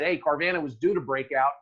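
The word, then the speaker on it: Carvana: say about carbon I believe right well it's pronounced carvanha I know but I like to say carvanha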